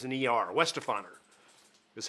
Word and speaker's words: Weihenstephaner: I even went online to watch the video to figure out how to pronounce this. Weihenstephaner, because it's an ER. Weihenstephaner is how they pronounce that.